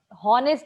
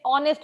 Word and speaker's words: honest: हॉनेस्ट नहीं है, हमने डिस्कस किया था लास्ट क्लास में. ऑनेस्ट बोलते हैं इसको. एच को साउंड नहीं करता है, एच साइलेंट रहता है, एंड you call it ऑनेस्ट.